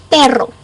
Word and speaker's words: perro: here that means that the sound of those two r's if you can't roll your tongue then go like a d so dog in Spanish is perro pero pero so let's